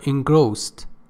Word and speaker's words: engrossed: Engrossed, pay attention, the correct pronunciation, d changes to t sound, for ease of pronunciation. So the correct pronunciation is engrossed.